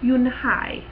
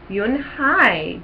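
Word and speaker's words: Unhei: "Yes, it's pronounced Yoon-hae." "And it means grace," Mr. Kim added. "Yoon-hae," Joey said slowly, and this time perfectly.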